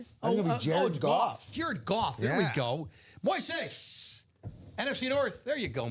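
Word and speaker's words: Moisés: Everyone's calling him Moses. Like, it's not Moses. It's Moises, right? Moises. I know. I think Common actually asked Moses how to pronounce, because he's saying Common's just been saying Moses. Oh, he has. And it turns out that it is indeed Moses. It's not Moises.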